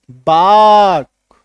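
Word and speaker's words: bark: अभी क्या होता है यहां पे देखो, ये जो आर है ये हल्का साइलेंट भी होता है, सेमी साइलेंट इसको हम लोग बोलते हैं, पूरी तरीके से साइलेंट नहीं होगा, आर का हल्का सा एक झलक सा आएगा, ठीक है।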